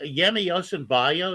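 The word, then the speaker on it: Yemi Osinbajo: impressed by buhari's uh vice president uh the yemi yosembayo is that the way you pronounce it yeah he I would vote for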